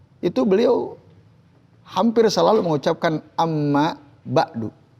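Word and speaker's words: أما بعد: beliau hampir selalu mengucapkan Amma ba'du Amma ba'du itu juga bisa dibaca Amma ba'da tapi Amma ba'du Afda lebih utama pernah nggak dengar penceramah atau mubaligh atau Ustadz dia tidak Amma ba'du tapi belum Raya ada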